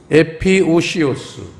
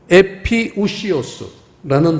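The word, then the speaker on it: ἐπιούσιος: 단어는요 두 번째 단어 에피오시오스 이 영어로 하면 이제 오자 발음하고 유자 발음이 나란히 있으면 이중 모음이면 우로 발음을 해요. 오우가 아니라 우. 그래서 에피우시오스라는 단어예요.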